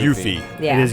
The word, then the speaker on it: Yuffie: name is that the developers anglicized the name by adding a second F and an E to the spelling of her original Japanese given name Yuffie, which is just Y-U-F-I. Well, that's why the pronunciation So is it's Yuffie.